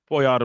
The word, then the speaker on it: Pojar: Very honored today to have with us here in our office the Czech National Security Advisor, Ambassador Tomas Pojar. I'm pronouncing that right, Tomas? Pojar, but Oh, Pojar is Pojar.